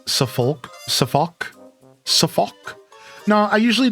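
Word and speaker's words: Suffolk: You don't pronounce the L and Safulk.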